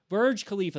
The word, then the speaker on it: Burj Khalifa: Burj Khalifa, that's right.